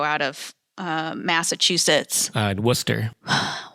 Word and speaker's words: Worcester: Uh Worcester. Why is it said Worcester, but it's spelled Warchester. Just easier word English. It's one less syllable.